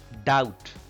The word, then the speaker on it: doubt: Doubt, here again B is silent.